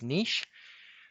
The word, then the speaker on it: niche: This is pronounced niche. Often it's pronounced niche in English, but it's niche.